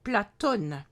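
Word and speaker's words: Πλάτων: Ainsi, le nom du philosophe grec Platon, à prononcer Platone, est écrit en grec avec le grand O, dit oméga, qui n'existe pas en arabe.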